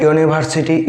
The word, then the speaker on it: university: number three what's like university ionian unicorn uh here at the beginning of the word there is a vowel letter u but it sounds like a consonant it sounds yeah the